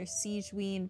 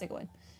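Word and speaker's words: Sigewinne: The English version calls her Siegeween, but I'm pretty sure it's supposed to be pronounced Sigawin.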